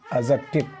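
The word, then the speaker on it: adjective: इसमें क्या होता है डी साइलेंट होता है एडजेक्टिव पढ़ेंगे और ए का प्रनं बता दिए थे आपको पहले ही कि ए का प्रोनंसिएशन 90 पर क्या होता है अ होता है तो इसको हम एडजेक्टिव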